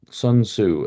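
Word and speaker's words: Sun Tzu: solution has to be I'm looking at the son Su as it gets pronounced uh who wrote The Art of War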